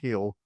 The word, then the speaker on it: Gil: Spells his last name Gil, but it's pronounced Hill.